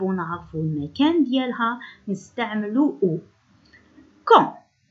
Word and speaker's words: quand: Quand هو يتكتب دي à la fin لكن c'est une lettre muette، هو حرف أصم إذن لا ننطقه.